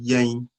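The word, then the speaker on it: yɛn: us that would be Yang repeated after me yang even though the N is at the end we don't sound the N with a it's a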